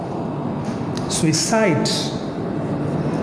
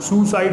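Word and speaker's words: suicide: The pronunciation of the word is सुइसाइड. It's pronunciation is सुइसाइड. सुइसाइड. हाँ, सुई की साइड में गिरना है आपको. सुइसाइड, सुसाइड नहीं, सुसाइड मत कर लेना.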